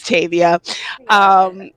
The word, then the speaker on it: Tavia: But I named her after Octavia Butler. So her name is Tavia.